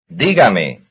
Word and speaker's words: dígame: Here is one stressed on the third last syllable. Number 44. Dígame.